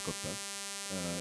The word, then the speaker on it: Kotha: guys to tell them it is King of Kotha and not the usual Hindi pronunciation. So in the film Kotha, in Malayalam it's Kotha, it's a fictional town.